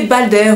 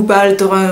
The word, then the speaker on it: Baldr: La mythologie donc nordique, avec Loki, Thor et Balder ou Baldr, ou Bald, vous dites comme vous voulez, ça s'écrit B-A-L-D-R.